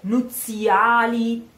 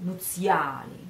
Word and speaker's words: nuziali: So, oh, nuziali, nuziali, nuzia, zia. Try the sound. Zia, zia. It's not nuziali. Careful, this is not this kind of Z. It's z, z, z.